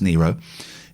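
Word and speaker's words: Nyro: here's the thing laura nero's and it is pronounced nero is in my recommended list this week and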